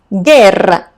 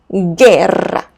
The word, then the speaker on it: guerra: So what happened? I have an U between G and I. That's why the pronunciation changed to strong or hard G sound. Guitarra. And U becomes silent, remember. Same for this word, guerra, guerra.